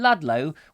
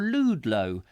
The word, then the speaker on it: Ludlow: are you down there in Ludlow or lude low as other people sometimes like to pronounce it which would be very silly because I don't think I've heard anybody pronounce it like lude low but you know over